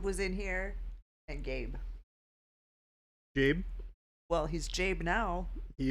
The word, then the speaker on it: Gabe: It's just a soft G.